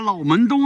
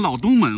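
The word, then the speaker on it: 老门东: 刚开始来的时候，我都念成老东门了。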